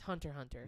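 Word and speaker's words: Hunter × Hunter: They're just like, you take the X out. The X isn't there. X isn't there. It's Hunter Hunter.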